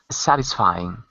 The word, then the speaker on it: satisfying: look at some pronunciation the first word was satisfying satisfying good satisfying so it's a first syllable there satisfying satisfying good and